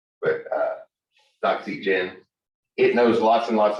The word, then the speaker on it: Doxygen: oxygen but i think they're supposed to pronounce it like docs like document but uh doxygen it knows lots and